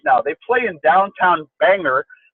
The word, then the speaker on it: Bangor: they play in downtown Bangor as the locals we pronounce it at the bangers Civic Center and it's